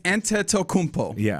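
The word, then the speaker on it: Antetokounmpo: It is a it's anttokmpo is what the if you were pronouncing it phonetically uh in the anglicized version of the Greek.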